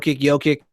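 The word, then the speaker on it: Jokić: I'm Jokic. I'm going. I don't remember really how you pronounce it. And it says Sing. Hey, thank you for letting me know. It's pronounced Jokic.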